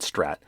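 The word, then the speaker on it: STRRAT: a massive email campaign that's pushing a Java-based Strat malware, and that's spelled S-T-R-R-A-T. That's short for something. RAT is a remote access Trojan, which is a type of malware. Anyway, it's called Strat, to steal confidential data from infected systems while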